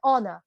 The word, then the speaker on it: honor: 영광, 명예라는 의미의 honor. 제가 honor라고 안 하잖아요. honor. H 발음 안 해요.